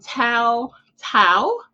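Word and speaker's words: Tou Thao: this week and so I did confirm the pronunciation is J Alexander King and Tao Tao they were convicted on federal charges and so former Minneapolis police officers Jay Alexander King and toe Tao or sentenced by the U.S District Court Judge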